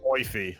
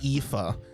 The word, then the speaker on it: Aoife: I probably would have gone Oife. Like Aoife. If it's a name like that, I'll try and like either suss out an interview or something. They're pronounced Aoife.